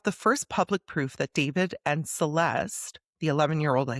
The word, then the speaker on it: D4vd: Now, his name is David, pronounced David, but it's spelled D4vd.